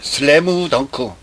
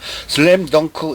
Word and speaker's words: 슬램덩크: 스크린 무비 스페셜 슬래무 덩크. 일본식 발음이에요. 영화 안에서도 그렇게 발음을 해서 자, 일본인들의 영어 실력이 참 대단히 조악하구나라는 생각을 했습니다. 슬램 덩크 이걸 못해가지고 슬래무 덩크.